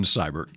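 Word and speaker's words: Seibert: so I'm thinking yeah seabird had been there cyber cyber it's Austin cyber he had one person that's how I know how to pronounce he's only attempted five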